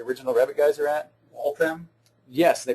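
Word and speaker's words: Waltham: Walam. Yes, they pronounce the H in Walam which is right next to Boston.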